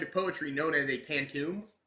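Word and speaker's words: pantoum: poetry known as a pantum at least that's how I'm pronouncing it I'll put on screen Google pronouncing it pantum uh uh the large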